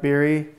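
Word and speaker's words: Biery: My name is Beery. It's B-I-E-R-Y and pronounced beer, Beery.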